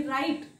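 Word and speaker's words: write: डब्ल्यू आला तर तो सायलेंट असतो जसं की राईट डब्ल्यू आर आय टी राईट म्हणजे लिहिणे सो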